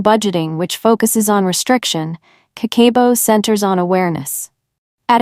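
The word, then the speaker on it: Kakeibo: strategies more effective and sustain aable section two Cabo Mastery let me introduce you to a powerful Japanese money management system that transformed my own finances Cabo pronounced kako is a centuryold journaling method that increases savings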